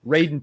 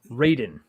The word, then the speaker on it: Raiden: Raiden 2 is one of my favorite games.